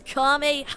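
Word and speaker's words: Kamehameha: duh tell me dude you're not even saying it right it's kamehame H wait even if you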